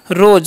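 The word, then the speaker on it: rose: अब देखिए क्या आ गया आर, आर का उच्चारण क्या करना है र करना है, ओ का ओ, और एस ई है उसका उच्चारण ज करते हैं, क्या हो गया रोज।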